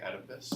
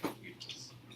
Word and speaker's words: Oedipus: I grew up, so I pronounce it the American way, Oedipus. However, the proper Greek pronunciation is actually Oedipus. It's not a D, it's actually a TH.